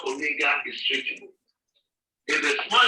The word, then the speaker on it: omega: In the capital, this is how omega is written. In the small letter, it is written like a small capital W letter, and it is pronounced as long O as you have in tone.